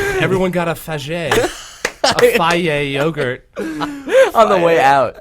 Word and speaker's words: Fage: It's actually pronounced Faye. Faye. I know, they it's put it in odd- the commercial. Yeah, because, it sounds a little bit like a derogatory word. Yeah, it sounds like faggy.